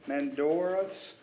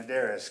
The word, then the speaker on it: Medeiros: And the next one, another Marine Corps, Mendoras. Did I pronounce that right now? Medeiros.